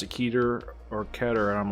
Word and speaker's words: Keter: Keter, because that's how you fucking pronounce Grigori, actually, this is true, can't be wrong about this because it's Jewish.